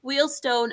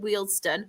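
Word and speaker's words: Wealdstone: I'm saying Wheel Stone as well because I can't remember who it was said about me saying Wheel because I pronounce it Wston. So I'm making sure I pronounce Wheelston.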